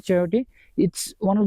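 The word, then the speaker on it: chayote: बट लेट me tell you, आप pronunciation थोड़ा सा प्रॉब्लम हो सकता है। इसको चियोटे बोलते हैं इंग्लिश में।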